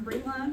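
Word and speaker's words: Brilann: Yeah, this still looks different than what I said, but they told me how to say it like this. Y'all got it? Okay, so yes, I'm Bree-Ze, C-O-L-E-M-A-N, correct.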